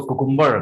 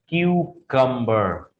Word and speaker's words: cucumber: English में बुलाते हैं, but actually it इज नॉट कुकुम्बर, this is क्यूकम्बर। The right pronunciation of this word is क्यूकम्बर। इसको तीन parts में आप अगर डिवाइड कर देंगे तो आप इसको ठीक बोल पाएंगे। बजाय कुकुम्बर के आपको इसको क्यूकम्बर बोलना है, क्यूकम्बर।